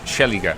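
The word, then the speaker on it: Szeliga: last name I don't try salga that's pretty close it's sheliga sheliga okay in Polish the SZ is an sh sound polish I in Hungarian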